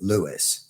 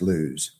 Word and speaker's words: Lewes: there building houses, but now everybody calls it Lewis. Weird. But it's actually pronounced Lewes.